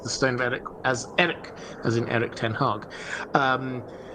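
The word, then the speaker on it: Erech: By the way, the melon heads and I pronounced the stone of Eric as Eric, as in Eric tenhog.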